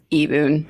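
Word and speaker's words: Ibun: I-B-U-N, but it's pronounced Eboon.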